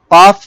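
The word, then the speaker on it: كاف: জিহ্বার গোড়া থেকে একটু আগে বাড়িয়ে তার বরাবর উপরে তালুর সঙ্গে লাগিয়ে কাফ।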